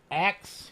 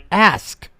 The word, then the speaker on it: ask: we get it from ax yeah so using the word axe isn't isn't an accent it's mispronunciation of the word ask I mean what are